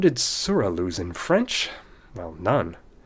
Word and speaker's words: sourat: and I promise you, any French reader will pronounce this as a silent T. This word is surah.